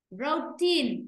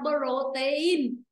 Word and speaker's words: protein: Vì vậy nó cũng rơi vào âm tiết thứ nhất. Đó là rơi vào chữ râu. Protein. Chứ đừng có đọc là protein.